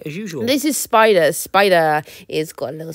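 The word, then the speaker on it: Spyder: This is Spider. Spider is got a little spider, but it's spelled like spy, like it's, I'm a spy, but also a duh.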